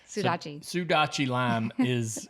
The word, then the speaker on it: Sudachi: The Sodachi, is that how you say it? Sudachi.